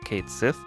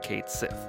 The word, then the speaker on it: Cait Sith: he's called kate sith i know there are different ways of pronouncing that but i'm gonna go with kate sith he's well he's not